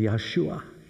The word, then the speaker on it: Yeshua: was doomed to destruction how do you say the name Jesus in Hebrew Joshua or more specifically Yeshua and the way that